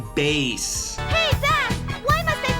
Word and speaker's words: Bass: Look, I get it. It looks like bass. And if this was a fishing game, it would be pronounced bass. Heck, if this was a Mega Man X game, it might even be pronounced bass, as all the Mavericks resemble different animals. But girl, have you never heard of music?